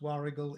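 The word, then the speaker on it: Warragul: sale at war waru war spelled wul but pronounced wargul in Victoria yeah Victoria Australia and you have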